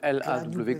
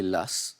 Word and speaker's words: Law: Alors en fait, les deux prononciations sont acceptées. Ça s'écrit John Law, L-A-W, comme la loi en anglais. On peut le prononcer Lass, effectivement, ou Law.